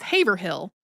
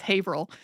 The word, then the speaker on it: Haverhill: the name of a Massachusetts town as it is spelled which is Haverhill but the way that Massachusetts town is pronounced is Haverhill and when I heard them say it I